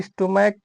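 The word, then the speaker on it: stomach: और दूसरा देखते हैं सबसे पहले कि इसका जो सीएच है इसका उच्चारण च आ रहा है कि स आ रहा है कि क आ रहा है। इसमें दूसरा नियम है कि सी एच का उच्चारण क होना चाहिए। तो यहां भी सीए का उच्चारण क होगा तो इसलिए यह नियम फॉलो कर गया।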